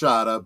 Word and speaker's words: Shada: Shada with the snake at the end it's pronounced Shada but yes sh okay yes the the snake